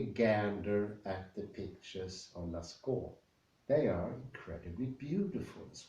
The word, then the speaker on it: Lascaux: It's Lavascourt? Lascaux. Lascaux it is. Think about the Lascaux case. And the last thing I want to add, take a gander at the pictures of Lascaux.